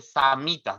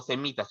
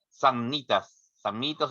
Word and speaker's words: Samnitas: Y dije samitas, no semitas, chicos. Es el pueblo samita, una tribu. Samnitas o disculpen la pronunciación, ya, pero no son semitas, son samitas.